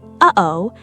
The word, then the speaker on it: uh-oh: Say the phrase uh-oh, the sound of mild surprise. Notice a tiny catch, the brief stop sitting right between the two syllables. That catch is a glottal stop.